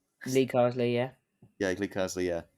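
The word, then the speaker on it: Carsley: like gr Potter and uh and Lee Lee Carwell Lee Carley yeah yeah Lee Carley yeah uh sorry for getting his name wrong um out of those three candidates who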